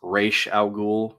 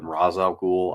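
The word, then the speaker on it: Ra's al Ghul: led by a man named Well, technically it's Real Ghoul. That's how it's normally supposed to be pronounced, but in the movie they called him Razal Ghoul.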